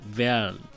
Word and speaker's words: Werl: আমাদের শহরের নামটাই তো আসলে বলা হলো না, এই শহরটার নাম হচ্ছে আসলে জার্মান উচ্চারণে বলা হয় ভেয়াল, WERL ইংলিশে আর কি।